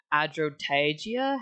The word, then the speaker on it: Adrotagia: His confidant Adrotagia. How do you pronounce that?